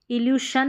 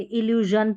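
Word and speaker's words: illusion: जैसे यहाँ पर है इल्यूशन नहीं पढ़ते, इल्यूजन पढ़ते हैं, सन नहीं विजन पढ़ते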